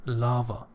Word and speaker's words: lava: in Peril scalding boiling lava lava pay attention this the second a is a sha it's so weak lava so the calling lava